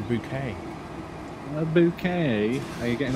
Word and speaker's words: Bouquet: stored at the moment it's not a bucket it's a bouquet a bouquet are you're